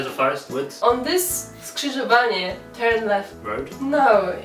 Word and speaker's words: Skrzyżowanie: It's like four syllables in 1 second.